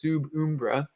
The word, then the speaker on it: sub umbra: So actually, I think it'd be in Latin, it'd be pronounced sub umbra, right?